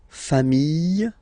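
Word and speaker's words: familles: Final S not pronounced fami singular form fami plural form same pronunciation s not pronounced.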